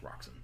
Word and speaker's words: Roxxon: It's pronounced Roxxon.